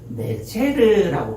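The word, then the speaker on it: נֵצֶר: 이 새싹이라는 히브리어 단어를 네체르라고 발음하거든요. 뭐라고 발음한다고요? 예, 네체르, 네자르, 그러니까 약간 혀를 굴리시면 잘하는 것처럼 들려요.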